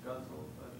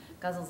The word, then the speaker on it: ghazal: How do you spell in English guzzle, faded guzzle? Oh, it's spelled Ghazal. That's a Persian.